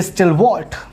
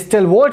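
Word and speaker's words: stalwart: इसके बाद में आता है एस से हमने फिर से बोला दोस्तों स्टिलवॉल्ट। द नेक्स्ट वर्ड इज स्टिलवॉल्ट बोलिए या स्टॉलवॉल्ट बोलिए, बोथ आर सेम थिंग, दोनों प्रोनाउंसिएशन एग्जिस्ट करते हैं।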